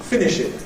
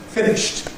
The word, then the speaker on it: finished: travels around the world think that it's finishing. No, it isn't. It's finished. If we transcribe it, that's immediately shown by the fact we write it with a T here, finished.